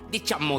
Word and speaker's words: diciamo: Diciamo di sì. Diciamo si scrive con due M. Ripeti, diciamo. Diciamo.